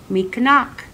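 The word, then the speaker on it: mikinaak: Mikanak. Mikanak is how you say his name in Anishinaabe.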